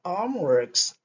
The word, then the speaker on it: homeworks: didn't you do your homeworks? Okay, my children, why didn't you do your homeworks? Homeworks, le S ici se prononce, donc voilà, X. Ok, homeworks, pas homeworks, homeworks, le son S.